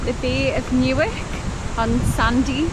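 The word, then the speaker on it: Sanday: Bay of Newark on Sunday which is pronounced Sandia not Sunday I've never seen such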